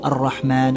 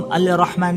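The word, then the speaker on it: الرحمن: तो हम सुर रहमान कैसे पढ़ते हैं? अर रहमान अलम कुरान तो हम अल रहमान नहीं पढ़ते हम क्योंकि क्योंकि इसका एक रूल है।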